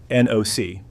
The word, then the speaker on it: NOC: Non-official cover, NOC, pronounced like knock.